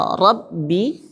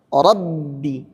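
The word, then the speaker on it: رَبِّ: Ya, misalnya Rabbi. Nah, gini cara bacanya. Rabbi. Rabbi. Tanpa dikolkolahkan dulu karena dia tasydid aslinya.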